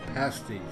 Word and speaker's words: pasties: people in America I also encounter advertisements for pasties which is actually pronounced pasties this is not an accouterment for female dancers